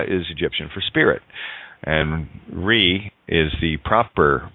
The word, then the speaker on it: Ra: And Re is the proper pronunciation of Ra, right?